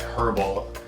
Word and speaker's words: herbal: My understanding is that a lot of English people pronounce the H. So like herbal is herbal and not herbal. Whereas a lot of more American dialect is leave the H out.